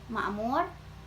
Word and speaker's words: makmur: Jadi bacanya itu makmur, akal, tak, pak, dan dinamai.